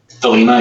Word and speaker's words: Thelema: Now, I'm not sure how to pronounce this. Is it the Thelema? Thelema, yeah.